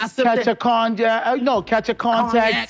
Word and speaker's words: cognac: a cognac. No, catch a contact, Cognac. sipping. Cognac. No, he didn't even pronounce it didn't well.